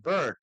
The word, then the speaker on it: bird: Dijeron con la I, beard, no, es bird, no es ni A, ni E, ni O, ni U, ni uno otro.